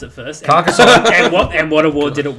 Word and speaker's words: Carcassonne: So how do you pronounce it first? Carcassonne.